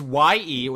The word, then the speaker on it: Ye: It's Y-E. That's his nickname, Kanye West. Ye. You know, like Yeezus, like it's his brand. It's one of his many aliases. But you don't pronounce it Jesus. But he says in interviews, it's a reference to the biblical ye, like you know, hear ye.